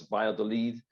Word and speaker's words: Valladolid: There's a town which the Spanish pronounce Valladolid, which is the slightly northwest of Madrid.